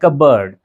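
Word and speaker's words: cupboard: कबर्ड जी नहीं उसे कबर्ड कहते हैं। कब बर्ड बर्ड की तरह बर्ड यानी जिसे परिंदा बोलते हैं ना हम लोग उसी का साउंड यहां पर प्रोड्यूस करना है। कबर्ड कबर्ड ना कि कब और बोर्ड इस तरह से नहीं बोलना है।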